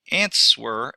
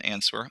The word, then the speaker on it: answer: I get that the ants were is okay I'm sorry that W is silent an answer answer is point zero